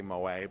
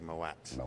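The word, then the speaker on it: Moët: They try to say Moet, but it's actually Moet.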